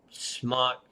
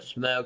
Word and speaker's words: SMOK: kind of like the smock or smoke however you want to pronounce it I don't like to say so much so I say smock the Cobra it has